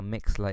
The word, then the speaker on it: Mixlr: Now Mixler is spelled Mixlr.